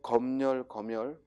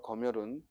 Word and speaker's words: 검열: 자, 335번은 금융, 복수표준 발음 둘 다 맞습니다. 금융. 또 검열 둘 다 맞습니다. 금융과 검열은 둘 다 맞습니다. 금융, 검열. 그러니까 니은 첨가해서 발음해도 되고 그대로 연음해서 발음해도 되고 우리 표준 발음법에 두